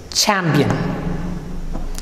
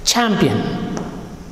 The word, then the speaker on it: champion: future again ch champion champion again look at the letters c and h right how to pronounce it church nature future champion and chess please don't give too much stress some of the students